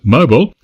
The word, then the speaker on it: Mobile: place next month in Mobile Alabama or how our American friends would pronounce It Mobile is for a major